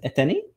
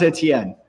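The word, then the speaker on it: Étienne: good um it's pronounced a tien sorry it's a french name yeah sorry uh so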